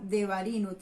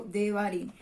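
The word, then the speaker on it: דברים: Bamidbar se pronunciaría en hebreo. Y el último libro, Deuteronomio, las palabras o palabras que significa Devarim, o se nombra en hebreo Devarim.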